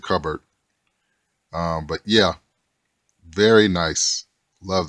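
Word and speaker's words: Kubert: the artist is Andy is two ways you could pronounce it is cover or Cubert pronounce it covered but yeah very nice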